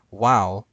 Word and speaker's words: vav: Wow, if I'm saying that correctly, is the Hebrew letter that in ancient Hebrew made a W sound instead of in modern Hebrew, which makes a V sound because it's pronounced vav instead of wow.